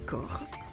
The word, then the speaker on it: Corne: Nous venons de quitter le petit village de Corre, qui s'écrit Corne, C-O-R-N, mais qui se dit Corre.